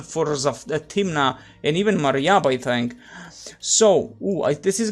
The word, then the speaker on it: Marib: Let's call it just a Marib Dam, but there you go, Marib. Mariab. That's how it's just pronounced.